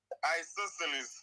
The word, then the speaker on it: isosceles: So the word is pronounced I saw instead of so. I saw lees.